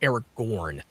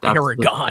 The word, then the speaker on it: Aragorn: Well, it's actually pronounced Aragorn, not Aragorn. I call him Aragon. It's not Aragon.